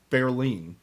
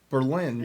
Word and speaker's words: Berlin: they first come to berlin and that's the german pronunciation what if we're not german just say it right okay well if i say berlin people think of new